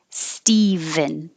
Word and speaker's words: Stephen: michelle is female michelle this is steven and it's kind of weird that we can spell this with a ph but it still sounds like a v stephen however the female name